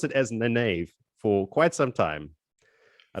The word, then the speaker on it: Nynaeve: Because I did pronounce it as Nynaeve for quite some time. I don't know. For me, when I read it the first time, it was Nineveh.